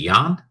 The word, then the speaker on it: yuan: pacts to use the yen and was it yuan?